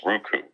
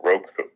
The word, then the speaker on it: Roku: I believe it's pronounced Roku. Yeah. Or Roku.